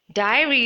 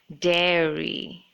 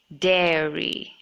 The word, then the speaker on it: dairy: But this should be pronounced as dairy. Not diary, but dairy. Not die, but dare.